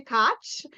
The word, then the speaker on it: Koch: I am Koch, rhymes with scotch, the drink or the tea you pick. So I am the Italian mother of 7.